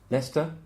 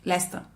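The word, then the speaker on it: Leicester: man Lester Lester Berek Berek yeah you often don't say all of the letters yeah probably because these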